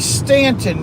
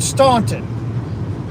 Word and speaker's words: Staunton: Louisville call it Louisville just like Stanton Virginia most people call it Staunton by people from their Stanton good move diesel Ducey